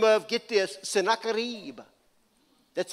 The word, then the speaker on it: Sennacherib: a guy by the name of, get this, Sennacherib.